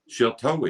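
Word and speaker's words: Sheltowee: Shiltoe is how you say it in Shawnee.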